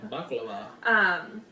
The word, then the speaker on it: baklava: Yeah, baklava.